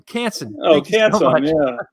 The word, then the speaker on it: Canson: way that yeah canson bought oh Strathmore owns canson now okay that's the correct way to say